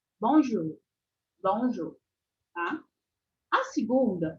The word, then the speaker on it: bonjour: facilitar para vocês então esse o u é o sonzinho de U né Igual o nosso u o u do português bonj bonj tá a segunda